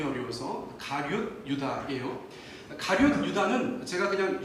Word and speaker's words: 가룟: 저희가 보통 가롯 유다 이렇게 하는데 발음이 어려워서 가룟 유다예요.